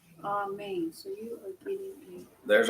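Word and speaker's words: אמן: Amen. So you are getting There's our syllable. Ah for the first one, main for the second.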